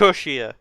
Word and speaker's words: cushier: Not how it's pronounced. That feels like it's not the pronunciation. It's cushier. Cushier? Right, I've never said that word. Like cushion.